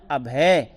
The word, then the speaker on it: अभय: अब यहाँ भी अभय है, माला अभय, तो ये ध्यान रखेंगे, भय नहीं बोलना है यहाँ पर बोलना है अभय, ध्यान रखेंगे।